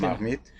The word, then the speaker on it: La Marmite: And in terms of the dining experience, what sets La Marmite, am I pronouncing it correctly? La Marmite.